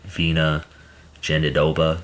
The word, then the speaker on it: Virna Jandiroba: I think John Anik pronounces it Vina Jandiroba, so excuse me if I'm wrong on that, but I'll stick with what John Anik says at Vina Jandiroba.